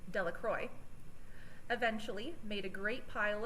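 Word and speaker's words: Delacroix: Bobby and Harry Jones and Dicky Delro, the villagers pronounced this name Delacroy, eventually made a great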